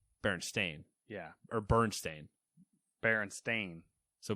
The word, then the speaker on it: Berenstain: Or was it Berenstein? See, that's so you're spelling it the way that everyone thinks it's spelled, but it's not. But is it Berenstein? It's Stain. Berenstain.